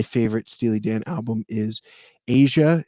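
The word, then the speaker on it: Aja: enjoy it my favorite steely dan album is asia it's spelled a j a um that's where uh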